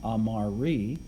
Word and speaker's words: amari: to the next blank, amari, well, that's the present passive infinitive. That would be to be loved. Amare with the E is to love. Amari with a long I is to be loved.